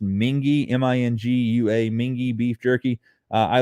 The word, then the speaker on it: Mingua: mingis but it's actually spelled m-i-n-g-u-a i think mingwa everybody calls it mingwa m-i-n-g-u-a it's made in paris kentucky but it's actually pronounced mingy m-i-n-g-u-a mingy beef jerky i love their garlic